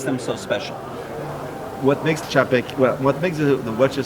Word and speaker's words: Czapek: This is called pronounce that name. Czapek. Czapek.